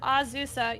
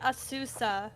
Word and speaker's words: Azusa: it's Azusa. You've been saying Asusa, though, the entire time.